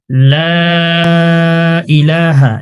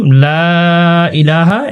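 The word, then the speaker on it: لا إله: লা ইলাহা, এখানে আমরা 3 সেকেন্ড টানি না।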